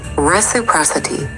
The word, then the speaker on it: reciprocity: You pronounce it reciprocity with the stress on the pros part.